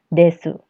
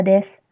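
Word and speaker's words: です: dia diletakkan setelah A9 des des ini adalah bentuk positif yang digunakan pada akhir kalimat untuk membuat sebuah ucapan biasa menjadi ucapan formal desu dibacanya Des bukan desu Oke pacarnya Des selanjutnya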